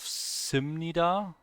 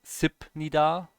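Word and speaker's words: 십니다: This one is a B in the end here of this syllable, but it gets pronounced as an M because it's followed by an N.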